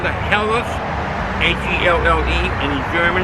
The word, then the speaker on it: Helles: It's a HELLES lager, that's how they pronounce it, the H-E-L-L-E, HELLES.